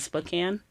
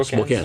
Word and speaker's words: Spokane: church, and it's, I don't know how to pronounce it, Spokane. Yeah, Spokane.